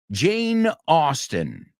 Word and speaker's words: Austen: So her name, I think that's easy. Suena como la ciudad, aunque no se escriba igual. Austin, Texas. Jane Austen. And not Jane, Jane Austen.